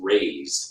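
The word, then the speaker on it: razed: Is it raising or razzing? I think it's raise, but I don't know. Okay. But we're going with raise. Okay, Mark, you are correct. It is pronounced raised. R-A-Z-E-D. Raised.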